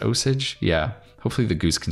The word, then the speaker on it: Osage: be an a osage i want i want to pronounce it osagi but i think there's an osage county somewhere that's pronounced osage yeah hopefully the goose